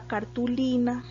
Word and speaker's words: cartulina: sea en este caso esta palabra cartulina tiene el acento precisamente en la penúltima esas palabras se llama